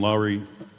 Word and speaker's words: Lauri: Is it Lauri? How do you pronounce the name?